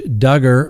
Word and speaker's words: Duggar: the docket that's right josh duggar rhymes with hugger well his dark past